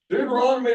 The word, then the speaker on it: Deuteronomy: d Deuteronomy 26:9 um what does Deuteronomy rhyme with does anybody know orange orange Deuteronomy rhymes with economy okay so being a